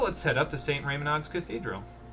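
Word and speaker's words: Reymanaud: Raymonod's Cathedral. Did I say that right? Let me see here. Hold on. Yes, I did. Raymonod. I think that's how you say it anyway.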